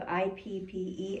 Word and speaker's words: IPPE: you're the co-founder of ippe Institute for pre and perinatal education yeah and you've been the recipient that's why we landed on it what why what do you say it rhymes with hippie hippie perfect I can